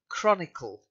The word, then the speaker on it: chronicle: is a hard see it's not like a soft see like church shut sound it's the cut sound Chronicle not riot Quranic Concord